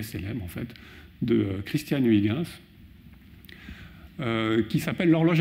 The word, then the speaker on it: Huygens: Son nom c'est Huygens, souvent on dit Huygens en français, les collègues étrangers ne comprennent pas du tout ce qu'on raconte, parce que c'est un néerlandais, c'est un hollandais, et en néerlandais, ça se prononce quelque chose comme Huygens.